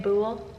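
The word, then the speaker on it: boule: Ble bo. Is that how you say it? Bool. Cuz they said it's like pool bool.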